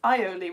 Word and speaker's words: aioli: In French, it's aioli with no L. In Spanish, it's alioli with one L.